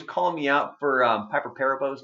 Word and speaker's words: Perabo: was off air and I mentioned you know Piper Perabo and he goes paurav oh and he was serious like he was legit serious like hey like like you're wrong and I was like okay well I don't know if I've ever really heard her name said but I thought